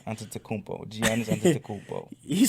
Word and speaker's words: Antetokounmpo: The Greek freak Antetokounmpo, I think that's how you say his name. Yeah. I love that last name, Antetokounmpo.